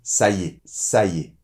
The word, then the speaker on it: Ça y est: Alors, là aussi attention à la prononciation. En fait, quand on parle naturellement on va dire plutôt : « Ça y est ». Comme si le « y » avait une apostrophe avec « est ».